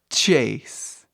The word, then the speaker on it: Chase: Mas a pronúncia, né? Chase.